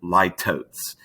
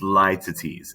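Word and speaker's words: litotes: list is not pronounced ly totes this is lie to tease it is not like totes like omg and sharon is lytotes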